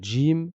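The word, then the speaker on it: ج: les dents du bas le Jim va se prononcer un peu comme en anglais comme quand on dit Jim ou bien John d'accord c'est comme s'il y avait un petit d juste avant avant le J donc on va dire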